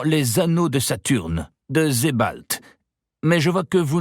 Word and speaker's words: Sebald: Se demande Julian tout en avouant que le nom lui est en effet inconnu, d'autant plus qu'Edward Avon l'a prononcé à l'allemande, Sebald.